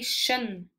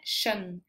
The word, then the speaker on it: skjønn: lydene er litt forskjellig k j uttales som i kjæreste kjæreste s h j uttales som i skjønn kjæreste skjønn kjæreste skjønn så jeg